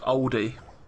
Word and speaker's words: Aldi: But it gets pronounced oldie there.